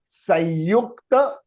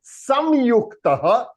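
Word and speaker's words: संयुक्त: It is called Sanyuktah Swaraha. Yeah, you can say Samyuktah Swaraha. It can be pronounced in both the ways.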